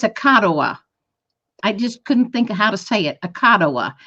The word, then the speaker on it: Akaduh: And the name of it's Akadawa.